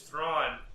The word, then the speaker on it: Thrawn: and smart it was thrawn who rhymes with tron so yeah today's topic